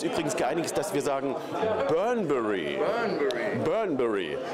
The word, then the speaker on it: Bunbury: Es gibt ganz verschiedene Aussprachen. Der eine sagt Bunbury, der liest es einfach nur. Der andere sagt Burnbury. Und wir haben uns jetzt geeinigt auf Burnbury. Burnbury, also very British.